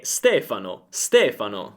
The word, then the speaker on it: Stefano: Il mio nome è Stefano, ma quando ero negli Stati Uniti tutti mi chiamavano Stefano.